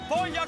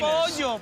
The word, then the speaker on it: pollo: Polla is cooked, no, no polla. It's penis. Pollo. Get the pronunciations right.